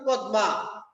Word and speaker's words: পদ্মা: আমরা আজকে আলোচনা করব পদ্মা। পদ্মা একটি কবিতার নাম লিখেছেন কবি ফরুক আহমেদ। প্রথমে দেখ লেখি আমরা কিন্তু পদ্মা। কিন্তু উচ্চারণ করি পদ্মা।